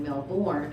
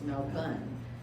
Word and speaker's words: Melbourne: everybody all excited and we were all saying melbourne and they said no that's not how you say it it's melbourne australia we're going um over